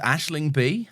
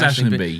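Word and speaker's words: Aisling Bea: She's I think it's pronounced Ashling B, I think. Oh, it is Ashling B.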